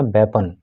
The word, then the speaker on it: weapon: प्रकार के, और बीपन, देखो इसको बीपन भी पढ़ते हैं बहुत से लोग, लेकिन इसका प्रोनाउंसिएशन बीपन नहीं है, इसका प्रोनाउंसिएशन है वेपन, तो इसको अब आप वेपन पढ़िएगा।